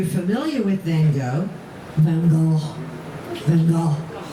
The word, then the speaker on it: Van Gogh: Van Gogh. That's how they pronounce it in French. Van Gogh. But it's Van Gogh to us, right? Because we're not there in France.